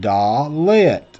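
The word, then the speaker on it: דלת: letter the hebrew alphabet is called the dalet pronounced da lit and has the sound of d as in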